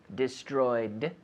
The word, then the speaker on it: destroyed: they destroyed destroyed destroyed with the D sound destroyed but no extra syllable that is not destroyed